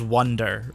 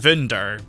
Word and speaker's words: Wunder: up getting that anyway it would be pronounced vinder um you can kind of hear it in the way they say it because Japanese doesn't have the V sound effect they pronounce it with the the be um but yeah Wonder